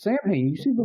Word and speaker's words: Samhain: It's short for Samhain. Thank you. Yes. And they pronounce it Samhain too, and like everybody just walks by and says, but that's not how you. It's solid. No, it's Samhain.